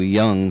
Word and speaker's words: Jung: uh archetypes at least least five now Carl Young I I had a good friend and I as you mentioned his name it's I'm I'm sure it's uh Carl Young who was associated with uh who's that other